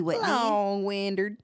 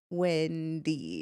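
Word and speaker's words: Windey: what's her name and you literally said her name wrong you're like Gabby Whitney Ward she it's wind Wendy yeah it's Gabby Wendy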